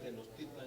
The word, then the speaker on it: Tenochtitlan: La investigación hay Tenochtitlan, y es Tenochtitlan, como yo estaba pronunciando. Y sobre todo en náhuatl, la mayoría de las palabras son graves. Son graves, Casi no hay agudas.